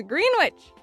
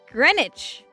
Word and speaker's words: Greenwich: Green Witch is pronounced Greenwich.